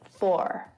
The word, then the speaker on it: for: word for full so the standard american accent pronounces the r at the end four that's my really rubbish